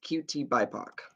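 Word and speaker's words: QTBIPOC: the chat here and it's pronounced QT by POC and essentially what that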